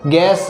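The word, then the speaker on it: guess: ऐसे ही हम देखते हैं साइलेंट यू, यू कब साइलेंट रहता है, देखो GAURD गार्ड, अब इसको गार्ड पढ़ते हैं, गार्ड यानी रक्षक, गैस, गैस यानी अनुमान लगाना, तो इसमें यू साइलेंट है।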